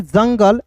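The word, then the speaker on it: jungle: एल ई को पढ़ेंगे जंगल यहां पे दोस्तों यू साइलेंट होता है समझ गए उसके बाद देखिए यहां पे एल आई वी ई डी तो इसे क्या पढ़ेंगे दोस्तों?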